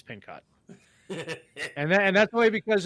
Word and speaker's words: Pincock: uh Mary pincock Meyer I always pronounce that Pino I blame the other guy though yeah I I start I start to say pin and then I realize it's pin cot and and that's only